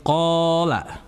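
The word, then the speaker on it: قال: Waid qola itu ada huruf qof bertemu dengan alif sukun. Maka itu disebut dengan mad thaobi'i dan membacanya dua harakat.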